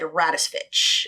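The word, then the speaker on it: Radovcich: different pron iations but there was a documentary I watched that was produced in 2022 and the clips they showed said rattis Fitch so that's how I'll pronounce it uh again [ __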